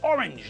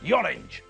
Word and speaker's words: orange: It's orange, not yorange.